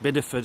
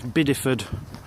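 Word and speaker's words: Bideford: there straight through Biddeford I think it's pronounced Biddeford actually I think I've been saying bad word to myself for the last few days but I'm pretty sure it's Biddeford it's someone correct me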